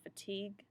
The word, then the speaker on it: fatigue: If you haven't eaten in a while, you might feel fatigue. Again, you don't hear the UE, you just hear that hard G.